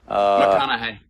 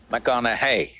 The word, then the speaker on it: McConaughey: McConaughey. McConaughey. Rhymes with what would Madonna say?